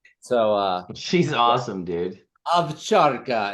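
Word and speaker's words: ovcharka: Avcharka. An Armenian taught me how to say it properly. It's A-V. Instead of it's written O, but you pronounce it Avcharka.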